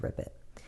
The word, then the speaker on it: RPIT: Prater natural investigation team rpit pronounced rip it it handled all Supernatural